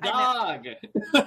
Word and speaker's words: Gagh: Gog.